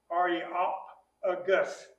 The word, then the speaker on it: Areopagus: Basically, in Greek, where there's a vowel, you make a syllable. Okay. And you can attach as many consonants to it as you can, and be able to get it out your mouth. So see, Areopagus. That's how you pronounce that word.